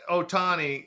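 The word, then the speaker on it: Ohtani: watching it but uh the do you think Otani is I pronounced that correctly right yeah you did Otani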